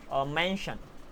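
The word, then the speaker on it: mention: मेंशन, these are the examples. तो यहाँ पर इसे शन बोलते हैं, यहाँ पर टी साइलेंट होता है, यहाँ पर टी आईओन को शन बोलते हैं, ठीक है ना।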